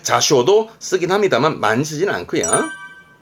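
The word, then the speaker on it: 座礁: 이게 좌초라 발음은 자쇼.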